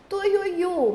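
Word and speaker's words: Tuiuiú: Tuiuiu, mesma coisa. Tui, ui, u. Tem um ditongo aqui, ui, e o u tá sozinho, mas por estar na última sílaba, continuou.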